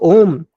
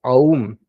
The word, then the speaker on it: Om: Then so Om is consists of three syllables. In Sandhi rules, when you combine A, U, it becomes Om. It's not Aum, A, U, Ma. So it's not Aum, it is Om.